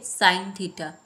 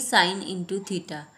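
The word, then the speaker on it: sin θ: इसे हम बोलेंगे साइन थीटा, ना कि साइन इंटू थीटा। इसे ऐसे नहीं बोला जाता, इसे बोला जाता है साइन थीटा या थीटा ऑफ साइन,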